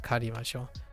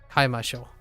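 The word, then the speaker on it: 買いましょう: Sorry, not karimashou. Kaimashou.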